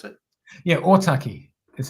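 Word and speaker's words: Ōtaki: MP so otaki is that how do you pronounce it yeah otaki that's how God that's awesome man well congratulations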